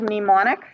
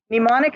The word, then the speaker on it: mnemonic: we have your little mnemonic devices are you do you guys know the word mnemonic mnemonic is to do with memory it's got a silent m at the beginning because of course we